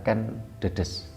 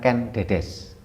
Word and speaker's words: Ken Dedes: Ketika kita bicara tentang tadi Ibu Ken Dedes ya, kita sampai berkali-kali juga kita sampaikan bahasanya membacanya adalah Ken Dedes, bukan Ken Dedes.